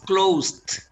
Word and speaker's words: closed: Close es closed, con la T que es muda.